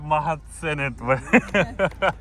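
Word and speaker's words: Mahadsanid: Mahatsen. Oh yeah, I forgot Mahatsenet.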